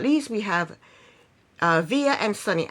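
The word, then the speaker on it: Veah: Last but not least, we have Via and Sunny. I think she pronounced her name Via. It's V-E-A-H. We're going to call her Via.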